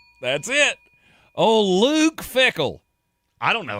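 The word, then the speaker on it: Fickell: Does his last name rhyme with pickle? That's it. Oh, Luke Fickle.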